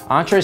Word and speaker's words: Entree: represented Brooklyn New York entree spelled and pronounced like the French word is a brand founded